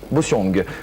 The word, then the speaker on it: Bossiong: Prononce-t-on le G? Oui. Bossiong.